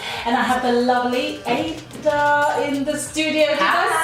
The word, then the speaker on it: Ada: Okay, so yes, you are locked into Ladies Night right here on Urban Extra with me, Edeline, and I have the lovely Ada in the studio.